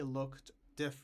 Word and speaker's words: looked: The same thing with looked, the pronunciation of looked and wished, because there is here the SH sound and here the K sound. So the pronunciation changes to T.